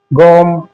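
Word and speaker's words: gnome: एन से पहले जी आए तो जी साइलेंट है। जैसे डिजाइन गोम कोजन और ये डिज़ इस तरीके से जी साइलेंट है।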